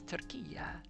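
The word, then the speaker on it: Türkiye: But I said, it's Turkiya.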